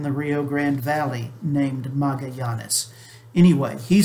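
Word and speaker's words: Magallanes: ferdinand magellan a spaniard that is the english pronunciation of his name the the family name is magayanes uh there there is a family here in the rio grande valley named magayanes anyway he said he led an expedition that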